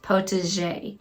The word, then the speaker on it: potager: Some are just totally not the correct way, but potager is the way that I've heard it pronounced the most, and I think it's the correct way to pronounce it, potager.